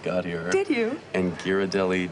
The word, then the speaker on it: Ghirardelli: found out before embarrassing myself between us I pronounced Kearney Street Tierney when I first got here thank you and Ghirardelli Ghiradelli and blasphemy of blasphemies I called cable cars